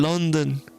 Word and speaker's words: Lunden: Cuando dice a Lunden y yo decía Lunden, ¿qué es Lunden? Pero ya cuando ellos lo pronuncian, dicen London.